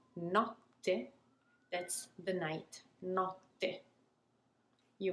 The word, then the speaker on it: notte: What we do then is to linger and to pause actually before the letter T is pronounced. Note, notte. You see it, you hear it actually, how I'm lingering and pausing and taking my time before pronouncing the double T.